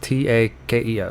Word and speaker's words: Takeo: my poor taki takio it's t-a-k-e-o so takeo i believe i'm not i'm not sure how to pronounce that and urak is